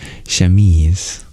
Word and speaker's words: chemise: It's pronounced chemise, and it's a light undershirt.